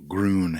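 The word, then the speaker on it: Gruene: green hall oh yeah is that how you say it green hall you say it green right yeah it ain't spelled like that no groon yeah i green's the oldest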